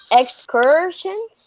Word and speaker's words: excursion: Even though this is spelled with a UR, guys, Deshaun, even though this is spelled with a UR, it makes the ER sound.